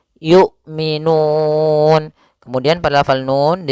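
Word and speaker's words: يؤمنون: A I U tidak boleh yu tidak boleh juga y gitu ya tidak boleh dibaca dengan ain tapi dia hamzah yukminun.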